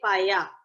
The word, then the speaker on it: paella: ਹੈ prawn and these are tortillas ठीक है pronunciation of PAELLA paya paya so these are tortillas TORTILLA TORTILLA it's